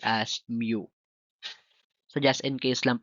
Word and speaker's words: mu: is mu p mu but this one is pronounced as mu so just in case lang po na mapag-aralan niyo sa mathematic mu po ang tawag ah mu po ang tamang pronunciation The correct spelling is mu.